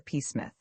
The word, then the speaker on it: Psmith: So I decided to adopt the peacemith. The P I should add for your guidance is silent as in this psychic and Tomigan.